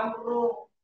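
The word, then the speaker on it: عمرو: Itu bacanya amru ya.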